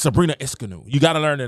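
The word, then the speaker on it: Ionescu: got to learn these girls names you keep mispronouncing the names you keep calling Cooper copper you keep calling copper Cooper it's Sabrina esanu you got to learn the names it's like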